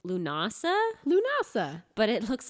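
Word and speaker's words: Lughnasadh: a minute that's pronounced lunasa lunasa but it looks like lagnasa yeah there's a d in there there's a lot of there's like a g and an h you wouldn't expect yeah and people get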